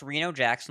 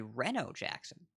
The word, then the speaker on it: Reno Jackson: brode pronouncing it and we think it's based on Reno Nevada which of course is not a global phenomenon Reno Nevada is barely a u.s.